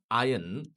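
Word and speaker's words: iron: আয়ন মানে যেটাকে আমরা ভুল উচ্চারণ করে আয়রন বলি।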